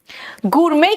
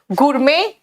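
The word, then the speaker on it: gourmet: आप सुनो, गुरमे क्या है बेटा? मेट नहीं है, यहां पे टी साइलेंट है। गुरमे जो खाना पीना बनाने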